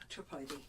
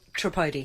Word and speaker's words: Tripodi: And, now how do you say your last name? Tripodi. So, Tripodi. Tripodi.